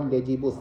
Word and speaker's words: Legibus: The especially bus legibus or legibus, if you pronounce g as softly.